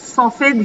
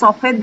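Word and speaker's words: سفید: শব্দ এসেছে, তাহলে সেটা সফেদ হিসেবে এসেছে। আসলে সফেদ না, ফার্সিতে হচ্ছে সফিদ।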